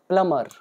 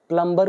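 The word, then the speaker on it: plumber: वाला या नला का प्लमर तो इसमें हमारा बी साइलेंट होता है इसको पढ़ा जाता है प्लमर हम लोग हिंदी में नॉर्मली प्लंबर बोलते हैं but real pronunciation is प्लमर तो नल के ठीक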